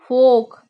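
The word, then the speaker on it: folk: मतलब होता है चलना फोक फोक का मतलब होता है जन समूह फोक का मतलब होता है इसमें ल वर्ड साइलेंट हो जाएगा फोक फोक का मतलब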